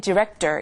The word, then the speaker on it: director: 근데 이제 R 발음 때문에 director 이렇게 말하게 되겠죠.